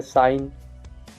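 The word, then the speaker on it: sign: तो एन से पहले, एन से पहले जी हो तो जी शांत रहता है। जैसे साइन, रैन, फैन, एसाइन।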